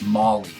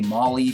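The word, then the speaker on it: Mawile: less syllable and it kind of sounds like mauling something you know which was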